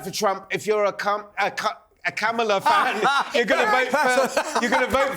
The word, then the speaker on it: Kamala: Well, you could pronounce her name properly. If you love her so much, it's Kamala. If you're a Trump fan, you're going to vote for Trump. Think of a camel and then put an A on it.